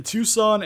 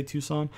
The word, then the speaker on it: Tucson: give us to play tucson arizona i think is how you say tucson uh the history the